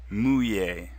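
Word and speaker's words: mouiller: wets repeat after me muy muy muy a the two elves won't make an L sound at all it's past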